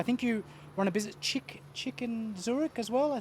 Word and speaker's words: chic: People were coming up to me like, oh, you're the chick in Zurich? No, it's Chic in Zurich.